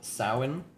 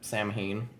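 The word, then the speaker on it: Samhain: a festival uh called Sin. It it looks like it's spelled or it looks like it said Sam Hayne, but it's so that's how bad English is.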